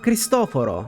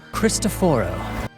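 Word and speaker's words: Cristoforo: on either of them so either christophor which is extremely hard to say or christoforo which is how the name is actually pronounced in Italian so why did he become christophor no one knows but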